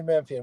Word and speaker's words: Memphian: creation so you work for the daily memphian memphian is that how you say it yes sir daily memphian we're online only uh daily uh newspaper in